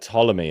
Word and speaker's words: Ptolemy: I heard that with words like Ptolemy as well. They did used to say Ptolemy. Wow. That's why the P is there.